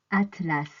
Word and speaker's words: atlas: un chat du chocolat attention a S se prononce as à la fin de certains mots comme dans Atlas c'est un livre de cartes géographique AC à la